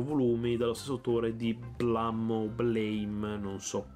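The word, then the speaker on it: BLAME!: dallo stesso autore di Blame, non so, cioè è scritto Blame, ma da quel capito si pronuncia Blam.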